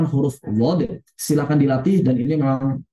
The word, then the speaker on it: ض: Begitu kesimpulan pengucapan huruf dhod.